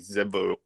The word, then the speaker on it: Tzevaot: It's actually Zebaot. It's spelled Tzevaot. So it's a very strange word, Zebaot.